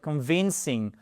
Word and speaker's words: convincing: Ça va être convincing. Convincing. Vous voyez, vous avez votre deuxième syllabe qui est accentuée.